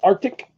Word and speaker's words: RTIC: It's the Arctic, and it is actually spelled. Hold on a second. I'll make sure I spell it right because I always get it wrong. I'll be right back. I'm not actually going anywhere. Uh, it's RTIC.